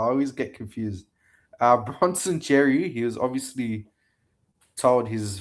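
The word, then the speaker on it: Xerri: I say Cherry like the fruit cherry. Yeah, I don't know, bro. I always get confused. Uh Bronson Cherry, he was obviously told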